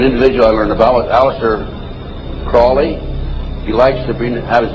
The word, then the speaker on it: Crowley: ever develop a litter Crawley he likes to be pronounced Croley to rhyme with holy and the statement today